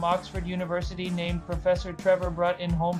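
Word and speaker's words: Bruttenholm: A small team of allied soldiers accompanied by a young paranormal expert from Oxford University named Professor Trevor Brut in home pronounced broom was dispatched to intercept this occult activity.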